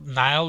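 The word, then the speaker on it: Nihil: called rivers of nile and rivers of nile nile is spelled kind of different it's n-i-h-i-l and the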